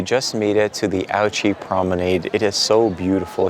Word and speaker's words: Ouchy: So yes, it is pronounced, in fact, Ouchy.